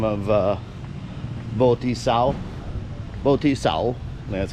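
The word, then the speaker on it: Võ Thị Sáu: Boti Sao, that's how you say it.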